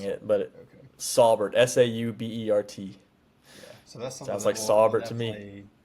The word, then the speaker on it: Saubert: Eric Saubert saw 2 targets last week with Kittle healthy.